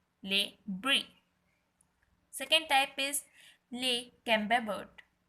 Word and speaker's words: Le Camembert: Second type is Le Camembert. Pronounce with me. Le Camembert.